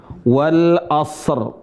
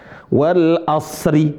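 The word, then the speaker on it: والعصر: Tapi cara bacanya rnya sukun. Wal asr. Tapi juga sebagian teman-teman enggak mau baca ri tapi hilang huruf rnya. Nah, ini juga salah. Wal asr. Wal as bukan wal as. Wal asr. Ada rnya wal asr.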